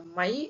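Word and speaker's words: मैं: ஓகேங்களா, இந்த மை அப்படிங்கிறத ஹிந்தியில மை அப்படின்னு சொல்ல மாட்டாங்க, மே மே அப்படின்னு தான் சொல்லுவாங்க.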